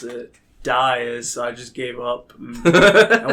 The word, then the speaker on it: Dias: when we met you told everyone it was diaz because that's probably good that's because yes because not a lot of people knew how to pronounce it dice i just gave up i went with a